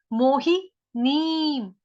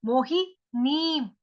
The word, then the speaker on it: मोहिनीं: मोही नीम, मोही नीम, एक मात्रा छोटी, ही के साथ छोटी मात्रा है, नी के साथ बड़ी मात्रा है। ऊपर अनुस्वार, उसका उच्चारण आधा म।